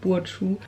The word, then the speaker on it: Burcu: Das R rollt man auf jeden Fall im Türkischen und das C ist ein J. Also spricht man meinen Namen Burcu aus. Aber ich weiß, im Deutschen können halt viele nicht das R rollen. Deswegen sage ich immer Burcu.